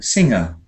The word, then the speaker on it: singer: syllables fing finger finger here we've got sing singer singer and here we've got it